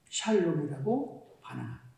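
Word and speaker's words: שָׁלוֹם: 이 히브리식 평화를 뭐라고 발음합니까? 샬롬이라고 발음합니다.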